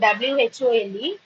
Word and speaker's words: whole: So, whenever you are pronouncing this word WHOLE, please keep in mind it's whole. HOLE எப்படி pronounce பண்றோம் நம்ம? அதே pronunciation தான் இந்த WHOLE க்கு. W is silent.